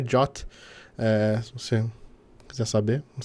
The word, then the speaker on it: JWT: A pronúncia do JWT é JOT, se você quiser saber, não sei se é importante essa informação, mas enfim, instalar esse pacote aqui também.